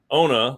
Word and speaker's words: Onna: And so the way that I explain to everyone how to say the name of the company is Onna, like the end of Barcelona.